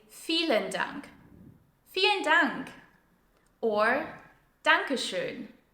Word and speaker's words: Dankeschön: Dankeschön is pronounced with the German Ö sound, so it's not a Danke schon, which I hear very often, as a lot of people pronounce it that way. It's Danke schön.